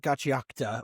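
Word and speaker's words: Gachiakuta: Let's start with Gatchiakuta or Gatchiakuta. Gatchiakuta or however. Gatchiakuta. They said it's wrong to say it Gatchiakuta. Phonetically, that's how I read it, but apparently it's Gatchiakuta.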